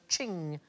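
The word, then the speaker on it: Qing: will get there eventually it rhymes with bling thing I like thing most expensive Chinese item ever sold at auction is a Ching vars it went for 43 million pounds in 2010.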